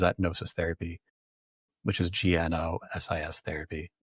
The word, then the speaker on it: Gnosis: Gnosis Therapy, which is GNOSIS Therapy. The G is silent, so it just sounds like Gnosis. But there's a G there.